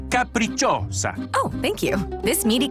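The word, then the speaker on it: Capricciosa: them on the capricos wait how do you say this caprichossa it's a caprichosa oh thank you this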